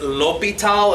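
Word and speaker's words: L'Hôpital: prime Intel ' in the handout it says l'hopital and say that together in lupito sandling french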